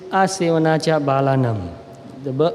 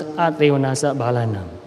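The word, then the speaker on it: Asevanā ca bālānaṃ: In Pali it is Asevanacha Balanam. In Burmese we pronounce in a slightly different way. We pronounce Atevanasa Balanam.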